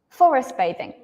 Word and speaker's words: forest bathing: you're almost right um but this is kind of like a compound noun so I'm just going to put the stress on Forest bathing yeah Forest bathing Forest